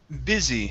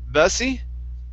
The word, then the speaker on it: busy: Next is the word busy instead of bussy. Okay, it's busy. Busy.